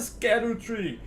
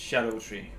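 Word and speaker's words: Scadutree: It's a scatter tree. Yeah, but it's actually an old way of spelling it. It's supposed to be pronounced shadow tree.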